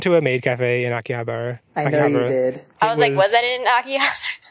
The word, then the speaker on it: Akihabara: go to Tokyo, then Akihabara. Since I made fun of Riley for mispronouncing it, I think we're all just Akihabara.